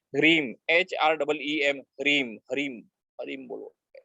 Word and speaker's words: ह्रीम: ठीक है, दूसरा है ह्रीम, HREEM, ह्रीम, हरीम, हरीम बोलो। मैं स्पेलिंग बोल रहा हूँ HREEM, ह्रीम।